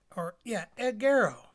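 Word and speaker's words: ἐγείρω: Egero, egero. Pronounce that right.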